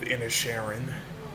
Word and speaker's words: Inisherin: film is called, it's pronounced The Banshees of Inisherin. That's how you pronounce it.